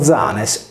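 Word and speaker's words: Ἴανες: Pausania narra che gli Ioni, abitanti di Atene, riportati in greco antico con Ianes, pronunciato Zanes, erano i discendenti di Codro, ultimo re di Atene, ucciso forse dagli Achei.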